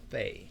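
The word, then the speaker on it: פ: Okay, without it, it's fei, like it's free. There's no penny there, so it's free, right? So pay and fei.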